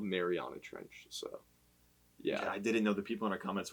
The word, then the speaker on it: Mariana Trench: the marina tread mariana marina trench yeah update how do you say it we we had a mishap last episode it's called mariana trench so yeah i didn't